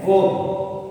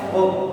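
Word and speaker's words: verb: क्या लिखा हुआ है, वर्ब। ध्यान रखिए ये वर्ब नहीं होता, क्या होता है, वर्ब। क्योंकि आर के पहले ई नजर आए तो उसको अपन आर को क्या रखेंगे, साइलेंट रखेंगे।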